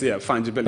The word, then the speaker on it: fungibility: It's spelled F-A-N. Fungibility is F-U-N-G-I. B-I-L-T-Y. Like fungi. Yes, fungibility.